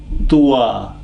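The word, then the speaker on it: ط: Twa, we had ta before ta, and I said ta is pronounced when the tip of the tongue is touching the front row of the teeth, the upper one, ta.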